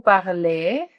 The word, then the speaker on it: parlez: Vous parlez, pronuncian la E, pero la Z no.